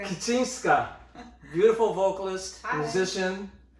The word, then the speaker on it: Kicińska: Kicińska. Kicińska.